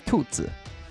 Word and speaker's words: Tuzi: He pointed out that I've been saying Tuzi's name wrong. It's Tuzi, which is Tuzi. It's two Chinese words. It basically means rabbit.